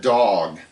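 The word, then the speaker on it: דָּג: Now I I began this talk by saying calling it Jonah and the dog. What? Well, the Hebrew word for fish is pronounced dog.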